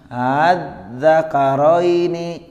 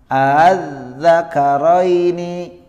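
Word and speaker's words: آلذكرين: Tashil di sini hamzah yang pertama dibaca jelas. Mirip dengan penjelasan surat Fussilat ayat 44 tadi. Sedangkan yang kedua dibaca samar antara hamzah dan alif. Jadi cara bacanya adalah gini Bapak sekalian. Adz-dzakaraini. Jadi tidak panjang lagi ya.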